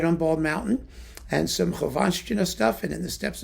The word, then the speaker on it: Khovanshchina: Actually, it's not hard to pronounce the double SH thing in Russian. Khovanshchina. See? It's easy.